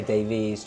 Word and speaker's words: Davies: So, yeah, pronounced Davis. But I usually say Davies just cuz otherwise people spell it the wrong way.